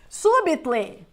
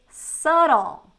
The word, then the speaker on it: subtle: for like anything okay subitle no we don't say subit we're going to say subtle subtle subtle there's even a book